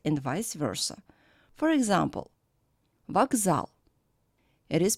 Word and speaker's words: вокзал: The voiceless K stands before a voiced Z. That's why it is changed in voiced pair G. Besides, the vowel O is not under stress, That's why it is pronounced as A. So the word is pronounced as вокзал.